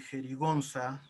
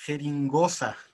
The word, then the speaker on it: jerigonza: ocurre muy comúnmente que jerigonza a veces por el poco uso que le damos a esta palabra la pronunciamos como here in goza de hecho al jales